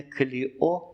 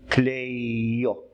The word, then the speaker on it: Κλειώ: які закінчуються на «о», наголос припадає на останній склад. Але вона навіть не Кліо, вона взагалі Клейо. Тому її називаємо на новогрецький манер Кліо, ще змістивши наголос, як нам здається, зручніше для нашої вимови і для нашого вуха.